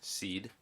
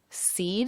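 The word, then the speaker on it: cede: so it's okay seed is this is a c with an a long e what seed seed c-e-d-e like a seed the property yeah yeah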